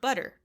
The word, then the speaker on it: butter: So, a few examples might be the word butter. It's spelled with two T's in the middle of the word, but when you say it, it's a D.